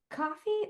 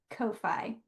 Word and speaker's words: Ko-fi: It's pronounced coffee or Ko-fi. I've heard both ways, but it is the